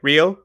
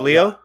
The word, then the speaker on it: Leo: as well i yeah people when people say my name they'll say real real instead of leo and it's because they